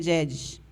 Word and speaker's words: jejes: de jedes né a a grafia É jejes né mas a a gente pronuncia jedes e do Maranhão eh